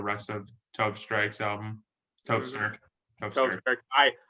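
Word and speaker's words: Tove Styrke: I called her Tove Strike for like the first month I was listening, because I just was not looking close enough. Stirk is spelled, for anybody wondering. And actually, I'll spell both names just in case. Tove Stirk is Tove space Styrke. So that's Stirk.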